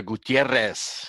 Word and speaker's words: Gutierrez: But you had to give the Gutierrez. Got to roll the R's on that.